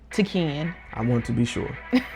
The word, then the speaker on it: T'Keyan: Yeah, I was like, it's T'Keyan.